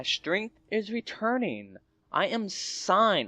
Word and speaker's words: Sein: is returning I am sign that's how I pronounce it it might be pronounced something else s sign but I like to pronounce it sign makes me think of Seinfield you know I am